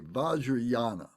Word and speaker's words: Vajrayana: Buddha so this is called the vajrayana vaja is spelled d-a-j-r-a Yana y-a-n-a bajriana vajra means indestructible indestructible wisdom in this case